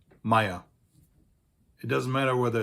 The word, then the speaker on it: Meyer: All of these names that you see here are pronounced exactly the same way in German. Meyer. These names also exist in English, and they exist in Dutch and in Flemish, and they all basically have the same origin, the same meaning. In German, they're all pronounced the same way, Meyer.